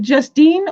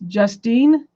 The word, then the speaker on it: Justine: it Justine or Justin cuz I pronounced it Justin like just in case I know that's what it says but I just wanted to know if it's a play on words so it is it's Justine or Justin sentencing date